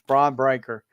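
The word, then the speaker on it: Bron Breakker: It's Braun Breaker.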